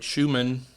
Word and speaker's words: Schuman: Avent is retiring from the presidency of Florida Polytechnic and is a recipient of the prestigious Fulbright Schumann, did I pronounce that correct?